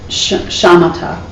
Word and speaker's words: shamatha: And it's shamatha in Sanskrit. That's how you pronounce it.